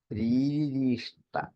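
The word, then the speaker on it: രീരിഷീഷ്ട: മാ രീരീഷ്ട മറക്കാതിരിക്കണം. രീരീഷ്ട നമുക്ക് ആർക്കും പരിചിതമായ ഒരു വാക്കല്ല. ഭാഗവതം വായിക്കുമ്പോൾ എന്തെങ്കിലുമൊക്കെ വായിച്ചു നിർത്തി അത് പോകും, അത്രേ ഉള്ളൂ. അത് രീരീഷ്ട, രീക്ക് ദീർഘമുണ്ട്, രണ്ടാമത്തെ രീക്ക് ദീർഘമില്ല, മൂന്നാമത്തെ ഷീക്ക് ദീർഘമുണ്ട്, ഇഷ്ട എന്ന് വരും.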